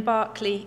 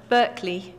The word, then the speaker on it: Berkeley: edward jenner museum in Barclay England a historic town which lent its name to the Roger larger Berkeley California the pronunciation has been lost somewhere it is a privilege